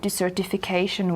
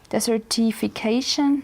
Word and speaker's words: desertification: because it's desert e actually i just pronounced it wrong because dessert is something you eat and desert is where a lot of sand is desertification certification so to sum